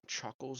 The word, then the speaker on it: Choockles: I think we've got Choockles up next. Am I What pronouncing up, that correct?